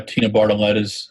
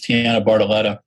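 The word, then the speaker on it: Tianna Bartoletta: talking o for uh my mispronouncing uh tina bartoletta's uh tiana barletta's name is tiana bartoletto sorry tiana it's tiana bartoletta letta and i will practice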